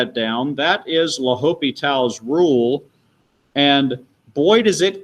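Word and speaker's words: L'Hôpital: that department but um typically it is just pronounced la hopital's rule all right are we good to move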